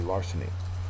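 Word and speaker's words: larceny: word number 13 uh it's a noun first syllable is accented and it just means theft so you see somebody taking money out of a cash drawer that would be Larsen um synonym is robbery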